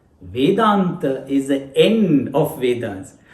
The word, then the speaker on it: Veda: We all have heard the word Vedas, which is said in English Veda. It is Veda. It's pronounced in Sanskrit as Veda.